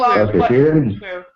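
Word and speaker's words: cwrw: Kooroo. That's the pronunciation.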